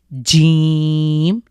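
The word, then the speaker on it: جيم: এটা উচ্চারণের পদ্ধতি আমাদের জিভের মধ্যখান ঠিক তার উপরের তালুর সাথে খুব স্ট্রংলি লাগিয়ে শক্ত করে উচ্চারণ করতে হবে। বাংলার যেরকম আমরা জ, চ এগুলো উচ্চারণ করি অনেকটা সেম। জিম, শিন, ইয়া।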